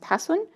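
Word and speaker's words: حسن: In this case, it's ha, sin, nun, which is pronounced, some people say husn, but it should be pronounced hasun.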